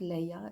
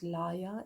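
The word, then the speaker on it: laya: korea kundalini yoga yoga it's not leia it's liar it means also recitation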